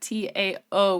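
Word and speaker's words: T'au: Because in the subtitles it said T AO, which is normally pronounced Dao when I see it. It's Tao as in T Au like the Greek letter.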